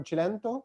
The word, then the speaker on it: Cilento: We have Marco, I don't know if I will use it the Italian way, but Marco Cilento, that's the way to pronounce it properly.